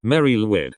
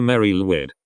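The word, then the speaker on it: Mari Lwyd: but I am she it's called a Mary lid she said pronouncing the latter term like the name Lloyd meaning blessed Mary it's the equin symbol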